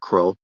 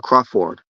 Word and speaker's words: Crawford: Her last name is not Crow. It's uh Crawford. That's how you pronounce it.